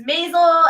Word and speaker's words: Maisel: Maisel.